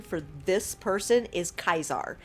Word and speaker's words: Caesar: for this person is Kaiser not Caesar because it sounds like he pronounces all soft C's with a hard C so we will be